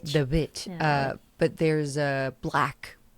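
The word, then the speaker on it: The VVitch: The Vitch. No. Um The Vitch. The Wii. It's like the WW like that's how it's spelled out the movie. Um The Vitch. The Witch.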